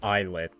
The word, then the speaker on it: ILLIT: Apparently it's pronounced eyelet. Ilet.